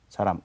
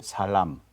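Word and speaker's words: 사람: I use that one for example s which is human s s saram we don't say Salam Salam Noam Salam is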